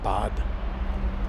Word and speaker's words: Bad: But the way you say it, you have that white glove on your Look, it's bad. I'm bad. It's ba. You pronounce it bod.